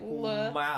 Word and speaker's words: LMAO: Actually, I pronounce this as Lamau. No. Mm-hmm. There's no LA. Same. But there's no there's So no do vowel I. in between the L and the M. So it's like Lamau.